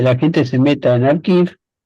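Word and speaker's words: arXiv: los sitios de prepublicación, como Archive se escribe como Archive de la Universidad de Cornell, o el sitio ePrint de la International Association of Cryptography Research de la IACR.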